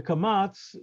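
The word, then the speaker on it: קמץ: The Kamatz, the Sfardim say ah, the Ashkenazim say o, the Patach is ah. But even the Sfardim, at least traditionally, knew the difference.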